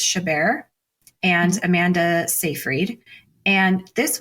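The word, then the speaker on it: Chabert: Rachel McAdams Lacy uh I looked up how to pronounce her name I believe it's shabar and Amanda safreed and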